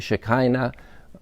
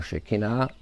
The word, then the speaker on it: Shekinah: And that, in very brief text, represents the presence of the Almighty, the Shekinah or Shekinah, depending how you pronounce it.